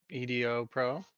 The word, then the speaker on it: EDOPro: have an option for Edo Pro they do oh I'm just wondering if I should do that category if I should do just chatting I'll just do Ido Pro edopro as it's pronounced they do give the